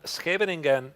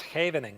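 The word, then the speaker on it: Scheveningen: No, no, no. It's not Shving in. It's Havening game.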